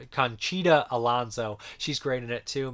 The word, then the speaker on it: Conchita Alonso: marielle el dondo chicana how do you say her last name i always say her name wrong alonso it's conchita alonso she's great in it